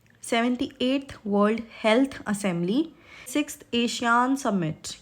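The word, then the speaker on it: ASEAN: 6th एशियान summit, ये बहुत important है। ठीक है, कुआलालंपुर मलेशिया। ठीक है, मैंने इसको ऐसे याद कर रखा है कि आशियान है बेसिकली इसकी प्रोनाउंसिएशन।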